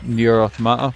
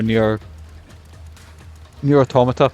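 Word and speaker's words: Nier: Automata: when Scalebound got cancelled, they done Nier Automata, or Nier Automata, that's the right way to say it. I've been saying it wrong for years.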